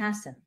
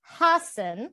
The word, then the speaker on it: hacen: and she said, Kate, Hasan with the H. I corrected her H, and I reminded her that we don't pronounce the H.